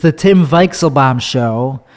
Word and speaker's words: Weichselbaum: show it's the tim weixelbaum show that's how you say it v it's a v sound in german i learned a couple